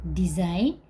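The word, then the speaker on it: design: press silent होता है यदि किसी भी वर्ड में एन के पहले जी आया है तो वह साइलेंट होगा तो यहां कुछ वर्ड है मैं आपको बताती हूं सबसे पहला वर्ड है डिजाइन डी ई एस आई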